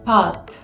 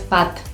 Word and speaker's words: pâte: Si quiero decir pasta en francés, va a ser así, pâte, pâte, pâte. ¿sí? Es como un poco más cerrado en la parte de atrás. Es como un poco más cantado. No es pat, pat, pat, pa, pat.